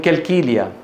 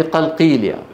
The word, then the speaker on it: قلقيلية: بيقول لك من كلكيليا. شو كلكيليا يعني؟ يعني قلقيليا. انتبهتوا؟ قلقيلية، بلد اسمها قلقيلية، بس ينطقونها بإيه؟ بالكاف ويستسهلون ذلك.